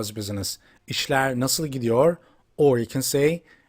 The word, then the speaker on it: İşler: You remember, this letter in Turkish is pronounced sh. Or you can say like S and H gets together. So that's why the pronouns come out like sh.